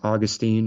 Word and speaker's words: Augustine: of the faith like Augustine or sometimes he's pronounced Augustine especially here in California st.